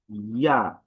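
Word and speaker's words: ياء: হরফের উচ্চারণ আমরা দেখি জিহবার মধ্যখান তার বরাবর উপর তালুর সঙ্গে লাগিয়ে উচ্চারণ করতে হয়। আমাদের এই জিহবার যে মধ্যখানটা ঠিক তার বরাবর উপর থেকে লেগে এটা উচ্চারণ হয়। ইয়া ইয়া ইয়া ইয়া ইয়া।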